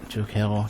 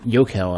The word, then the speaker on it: Jokel: Jokel, give me Yokel. Actually, we finally did somebody to pronounce his name, and I've been saying it wrong the entire time.